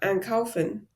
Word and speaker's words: einkaufen: And that's one way to also know how a syllable is separable or a prefix is separable, because in einkaufen, the ein is stressed, so you know it's separable.